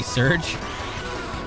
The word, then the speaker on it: Serge: pay the shares tax what did i say serge i wonder can i swap out